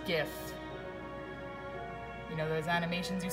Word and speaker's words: GIF: is this it's pronounced gift you know those animations you see online those gifts it's pronounced gif gif stands for graphics interchange format you don't say Jeff it's interchange format they're